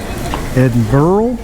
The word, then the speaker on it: Edinburgh: it's down south of Edinburgh Edinburgh is the way they pronounce it here and we'll be touring